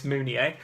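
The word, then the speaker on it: Mounié: I've learned to pronounce it's not moving it's munier I mean I thought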